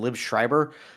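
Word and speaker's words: Liev Schreiber: Liv Schreiber.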